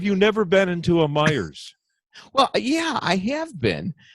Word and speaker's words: Meijer: myers but you're right so that's how you pronounce the meijer do you know where he got the money